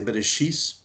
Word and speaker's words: Bereshit: na tela de vocês, o livro de Bereshit, de acordo com a pronúncia Ashkenazi, Bereshit, da Art Scroll.